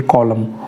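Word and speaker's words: column: यहाँ पर ये वाली एन साइलेंट है तो आप कहेंगे कॉलम।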